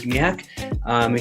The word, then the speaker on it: Zmijak: Zmijak. It's me, Jack Zmijak. You know what?